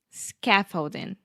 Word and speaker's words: scaffolding: Scaffolding. Yes, the stress is on the first syllable, and that first vowel sound is the ah, very open ah, like cat, hat, master, scaffold, scaffolding.